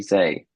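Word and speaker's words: Hsieh: Yeah, his surname is Hseih. And I think you say his name Tony Zay.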